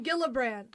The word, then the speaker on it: Gillibrand: Kirsten Gillibrand.